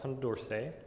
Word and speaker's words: Condorcet: I can't even pronounce Concorsage. I pronounced it, so it's Condorcet.